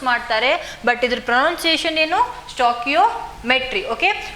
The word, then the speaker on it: stoichiometry: Okay, so here the pronunciation is stoichiometry. Okay, so ಇದು confusion ಆಗ್ತೈತಿ. ಸ್ಟಾನ್ಶಿಯೋಮೆಟ್ರಿ ಅಂತ ಹೇಳಿ ಜಾಸ್ತಿ ಪ್ರೊನೌನ್ಸ್ ಮಾಡ್ತಾರೆ, ಬಟ್ ಇದ್ರ ಪ್ರೊನೌನ್ಸಿಯೇಷನ್ ಏನು ಸ್ಟಾಕಿಯೋಮೆಟ್ರಿ.